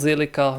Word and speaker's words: Zilliqa: so this time around made my research it's called silica let's move on right